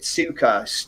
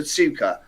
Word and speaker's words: Tsuka: Has anybody seen I pronounce it Tsuka, TSUKA coils, and they've got a ribbon wire wrap.